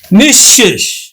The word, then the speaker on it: নিঃশেষ: এছাড়া বিসর্গ যদি শব্দের মধ্যে থাকে তাহলে বিসর্গের পরে যেই বর্ণটা থাকবে সেই বর্ণটা কিন্তু দুইবার উচ্চারিত হবে। যেমন নিঃশেষ বিসর্গ তারপরে হল শেষ।